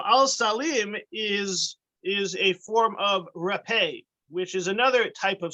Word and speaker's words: rapé: So al-salim is a form of rapé, which is another type of spice, a bitter spice. It's actually spelled R-A-P-E, which is a tricky word to pronounce because it's not rape, it's rapé.